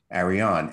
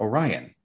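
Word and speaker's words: Arian: Aryan, A-R-I-A-N. from Arion, you get two other mispronunciations, Arion with a Y, or Orion, as in Orion constellation, which is exactly the location of the empire I'm talking about here.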